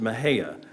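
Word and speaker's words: Mexia: being a great destination no matter how you pronounce it, but you pronounce it Mahia, almost like a greeting called out on the street.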